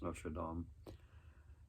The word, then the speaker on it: Notre Dame: Another 2-movie pack here of Hunchback of Notre Dame. That's how you say it, or what people say it, Notre Dame. I think it's Notre Dame, the correct way to say it.